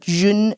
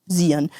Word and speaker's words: Zhiyun: today I have another Zhiyun, or Zhiyun, but Zhiyun according to them. Fiveray, for those of you who don't know what I'm talking about. For those of you who still think that said is pronounced Zhiyun, Zhiyun, I have the Fiveray F100 for today,